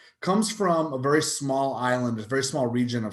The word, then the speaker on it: Islay: from a very small island a very small region of scotland called uh the the isla it's spelled i-s-l-a-y looks like islay pronounced like isla uh in that area